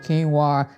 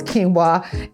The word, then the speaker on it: quinoa: we got to add some quinoa yes it's pronounced quinoa if you like me you probably mispronounced this many times I used to call this I don't know I call it some crazy stuff but it's quinoa and this is that blend and the brown